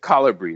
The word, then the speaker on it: Colibri: Is it Calibri? It's kind of a made up. Well, so yeah, Colibri. That's how I say it.